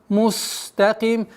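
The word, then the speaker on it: مستقيم: Мустаким. Так как син, свистящий звук, нужно дать полноту свойств, чтобы полноценно произносилось.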